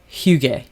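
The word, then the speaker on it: hygge: Vibe yes in Denmark it's called hug hug hug it's spelled h y g g e and this book was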